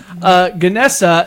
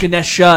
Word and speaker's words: Ganesh: It's not Ganesha. It's Ganesh. Ganesha is another word for it, but in another pronunciation, it's Ganesha. Oh. And there's also Ganesh. That's another way of saying it.